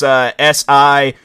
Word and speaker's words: Sigur Rós: But overall, though, the way that their name is pronounced, it's Sigurros.